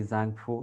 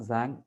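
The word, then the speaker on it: 脏: ശരീരത്തിൽ പെരികാർഡിയത്തെ ഒഴിവാക്കിയിട്ടാണ് ഈ സാങ്ഫു എന്നുള്ള ഒരു ഓർഗൻ കൺസെപ്റ്റ് നമ്മൾ പറയാറുള്ളത് അതിൽ സാങ് എന്നുള്ളതിന്റെ ഉച്ചാരണം ടി കൂടെ ഉൾക്കൊള്ളുന്ന ഒന്നാണ് യഥാർത്ഥത്തിൽ ഭാഷാപരമായിട്ട് അതിൻറെ മീനിങ്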